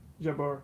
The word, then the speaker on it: Jebur: Jebur.